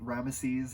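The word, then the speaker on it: Ramesses: you could pronounce it I think ramises is sort of the accepted sort of version but it's if if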